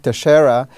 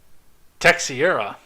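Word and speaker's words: Teixeira: leaks of these documents his name is Jack Tashara 21 year old a member of the Massachusetts Aaron is that how that gets pronounced Tashara hmm I had said Tech Sierra okay Tashara we'll go with I'm actually glad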